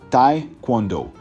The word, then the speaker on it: taekwondo: and spinning jump kicks the pronunciation can be tricky it's ta quondo for instance Taekwondo athletes